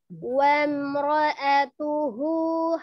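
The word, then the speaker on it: وَامْرَأَتُهُ: Jadi bacanya wamro'atuhu hammalatal hatab. Wamro'atuhu Wamro ya, ngalir dulu mimnya wamro gitu, ngalir dulu.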